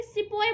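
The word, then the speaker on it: sepoy: पता हमारी भाषा, तो वे सिपाही को सिपाही नहीं बोलते थे, वे सिपॉय बोलते थे उसे, मतलब उसको सही से प्रोनाउंस नहीं कर पाते थे।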